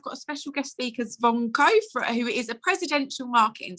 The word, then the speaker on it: Zvonko: How do you pronounce your name, firstly? Zvonko, just like how you did.